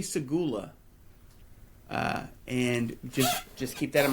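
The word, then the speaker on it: Seguleh: That's how you pronounce it, right? Segula? Segula, actually.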